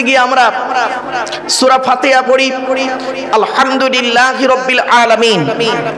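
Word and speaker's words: الحمد لله: নামাজ পড়তে গিয়ে আমরা সূরা ফাতিহা পড়ি আলহামদুলিল্লাহি রাব্বিল আলামিন। আলহামদু এই গলার ভেতর থেকে হেটা উচ্চারণ করবেন, আলহামদুলিল্লাহ।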